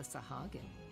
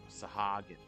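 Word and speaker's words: Sahagin: man who foiled the sahagi sahagan that's how you say it I seated the feast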